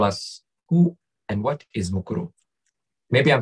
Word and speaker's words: Mukuru: sandy please tell us who and what is mukuru maybe i'm saying it even wrong no you're